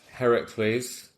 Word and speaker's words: Heracles: and he uses project Heracles Heracles God of strength Hercules it's the Greek pronunciation of Hercules Bobby yeah he uses